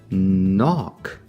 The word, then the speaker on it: knock: If I add a K N to the front, I get the silent K, but the N sound of N. Knock.